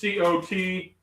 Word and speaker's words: Cotija: How do you pronounce the cheese? Jojote, carita, fajita, carita. I don't know. Cajote. It's Cotija, cajote.